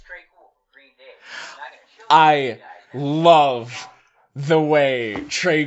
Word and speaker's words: Green Day: Hi, it's Trey Cool from Green Day. I love the way Trey Cool says Green Day. He puts the accent on the second syllable.